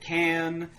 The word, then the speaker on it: Cannes: It had premiered at Cannes, so...